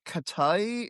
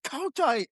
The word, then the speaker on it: Kotite: And she's like, "Who is Rich Katy?" And I'm just like, "KAI? IT'S co tight.